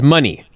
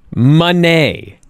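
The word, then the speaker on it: Moné: really it's a requirement we must pronounce it Mercedes money so I said Monet yeah not Monet I thought Monet possibly as well but it's money money okay um I just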